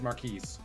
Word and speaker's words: Marquis: and actually look up what is the correct pronunciation of his name let's start there Marquis okay so it is Marquis yes the speed is ridiculous for Marquis but